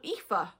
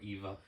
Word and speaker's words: Aoife: to pronounce her name I get a lot of AIS or Eva Eva yeah you say EA to someone they go Eva no EA and if you ask